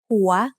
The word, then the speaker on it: หัว: วอแหวน to make สระอัว หัว หัว is said with a rising tone because it has a high-class initial consonant with a live syllable ending.